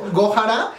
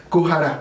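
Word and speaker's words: 구하라: Que es que ya me corrigió el otro día porque dije Gohara y me dice no se dice Gohara, se dice Kuhara.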